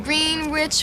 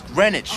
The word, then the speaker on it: Greenwich: food down there in green rich Village no no no first of all let pronounce Greenwich all right you got to get a little dip in your hip when you say that my hip he's